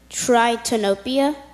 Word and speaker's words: tritanopia: Tritanopia?